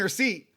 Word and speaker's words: receipt: like L and salmon in B in debt and the P and receipt.